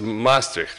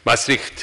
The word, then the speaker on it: Maastricht: of this city, because the whole Europe says it's Maastricht, right? And it makes Dutch very nervous because it's Maastricht, or I should try several times more, but then I can make it.